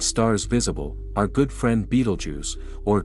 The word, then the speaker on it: Betelgeuse: Let's pinpoint one of the most distant named stars visible, our good friend Betelgeuse, or Betelgeuse as it's often pronounced.